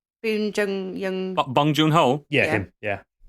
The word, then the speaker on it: Bong Joon-ho: And it's directed by him who did Parasite, whose name I can never pronounce. Bong Joon-ho.